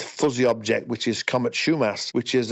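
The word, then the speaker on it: Schaumasse: One of them, Comet Schaumass it's pronounced, is in the constellation of Virgo, but it's below what we call naked eye visibility.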